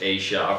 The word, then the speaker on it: Aja: is startled Asia decision now we say it's pronounced Asia or to Wikipedia so very good well I